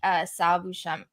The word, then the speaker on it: Sal Buscema: So, I was kind of trying to look through like just like the art previous to him, and I really did like Sal Buscema.